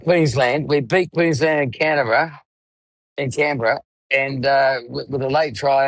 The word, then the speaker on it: Canberra: We beat Queensland in Canberra, and with a late try, and it was disallowed.